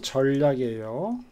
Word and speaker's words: 전략: 발음이 전략이에요. 전략. 알겠죠? 자음 동화. 자음 동화. 역행, 역행 동화. 자음 역행 동화. 알겠죠? 니은이 리을을 닮아서 리을이 되잖아요. 그래서 전략. 전략.